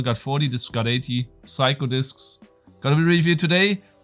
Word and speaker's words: Psycho Disks: the last episode but this one is not called psycle discs it's called psycho discs okay just to to